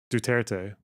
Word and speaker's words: Duterte: wacky dude though see if I can uh pronounce duterte okay that's what I thought okay we favor